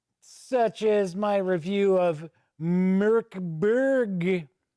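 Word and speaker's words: Mörk Borg: as my review of Merkberg. I believe that is how this is pronounced. I think it's kind of how I was pronouncing it. I know it is not Morkborg, like some reviewers have pronounced it.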